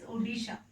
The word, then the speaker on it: Odisha: Or now the pronunciation of this Odisha is Odisha.